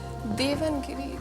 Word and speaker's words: देवनागरी: देवनगिरी script के साथ तुम जाना चाहती हो।